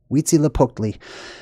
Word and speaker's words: Huitzilopochtli: It's pronounced Huitzilopochtli. Huitzilopochtli.